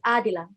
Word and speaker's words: Adila: It's pronounced Adila.